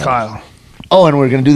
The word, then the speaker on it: Kyle: and so today here's it sounds like Carl when he says it. So sometimes you're gonna hear me say Carl because that's kind of how he pronounces Kyle because not American. However, it's Kyle. It's Kyle.